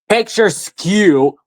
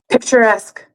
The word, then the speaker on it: picturesque: You'd suspect that a You suspect a picture picture skew picture. No. Uh Google, can you please pronounce that for me? Uh if you can load If you can load picturesque picturesque. Thank you.